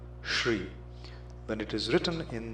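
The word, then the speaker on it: श्री: is mispronounced is shri it's a palatal sound shri then it is written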